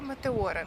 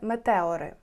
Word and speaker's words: Метеори: Magical місце воно називається монастирі метео звичніше вимовляти Саме так але правильно буде Метеори колись декілька століть назад